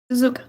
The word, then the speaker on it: Suzuka: Suzuka. Okay. I guess that's how you pronounce it. How do you say it again? Suzuka.